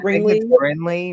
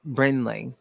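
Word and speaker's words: Brinley: I think it's likey Bley Reese Bley Bley you got to say it like brenley it's a pretty name it's just it's just don't look right brenley Bren brenley brenley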